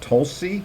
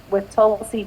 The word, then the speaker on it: Tulsi: Tulsi, is that how you say it? Yes, Tulsi is amazing.